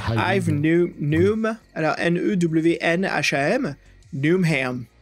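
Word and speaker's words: Yves Newnham: Alors ça se prononce Yves aussi en anglais ? Moi, je dirais Ive. Ive, oui. Comme Ive Newham. Alors, N-E-W-N-H-A-M. Newham. Ive Newham.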